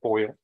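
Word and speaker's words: Foyil: of Texas versus Boyer am I pronouncing it correctly like aluminum foil but it's f-o-y-i-l and in each of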